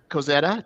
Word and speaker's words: Kozeta: I don't want to be Okay, no, you asked but since you brought it up, so Kozeta, did I say it correctly?